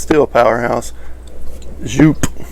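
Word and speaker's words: Joop!: it's still a powerhouse jupe or i guess technically yup yup it's jupiter that's what i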